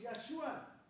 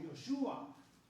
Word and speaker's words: Yahshua: En hebreo actual es Yahshua. Y también en hebreo griego actual, aquí lo voy a poner actual, mucha gente lo pronuncia como Yoshua y cantan las canciones de Yoshua. ¿Por qué?